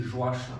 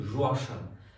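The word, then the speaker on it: Joachim: diminutif de Eliakim et Eliakim ou Joakim c'est la même chose qu'on peut prononcer aussi Joachin j'ai déjà entendu des gens qui s'appellent en Belgique Joachin s'appelle Joachin ou Joakim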